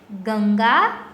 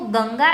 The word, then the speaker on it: गंगा: लेकिन इसके ऊपर ये जो हमने आधा अनुस्वार किया है यानी कि डॉट किया है, उसकी मदद से हम इसको गंगा कहेंगे।